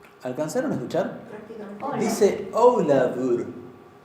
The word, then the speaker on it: Ólafur: Dice Ólafur. La F la pronuncia casi como si fuera una V, como si fuera una V corta.